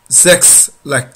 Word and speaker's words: sechs: Sechs, like in sex. Sex. Don't forget that in German, S is pronounced like Z. So instead of sex, it will be sex, sex.